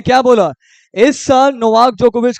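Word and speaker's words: Djokovic: हुआ है नवाक जोकोविच डी साइलेंट होता है नोवाक जोकोविच किस कंट्री से सर्बिया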